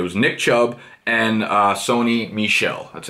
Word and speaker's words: Michel: for Georgia it was Nick Chubb and Sony Michel that's how you pronounce like the girl and dodgeballs like Michel stead of let's get out of it of